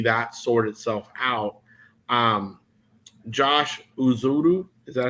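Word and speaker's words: Ezeudu: Josh Uzudu, is that how you say it? Yep. Uzudu.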